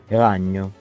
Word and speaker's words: ragno: The phoneme NY is spelled differently. In Catalan, it's spelled NY, but it's GN in Italian. For example, the word means spider. Aragna. Ragno.